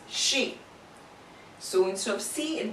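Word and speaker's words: し: However, there is an exception in this line wherein this is not pronounced as si, but it is pronounced as she.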